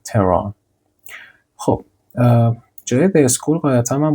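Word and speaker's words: Tehran: تچر اسلاید بعدی خب تهران بچه‌ها تهران نمیگم میگم انگار اچش تلفظ نمیشه تران خب جای اسکول قاعدتا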